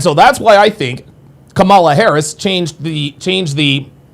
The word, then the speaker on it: Kamala: Well, Kamala's name is Kamala, and I think the reason why they changed it to Kamala instead of Kamala, putting the accent on the first syllable instead of the middle syllable, is because when you